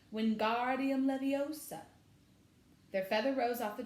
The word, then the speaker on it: Wingardium Leviosa: much more luck when Guardian Livio stuck he shouted waving his long arms like a windmill you're saying it wrong Harry heard Hermione snap its Wingardium Leviosa make the guard nice and long you do it then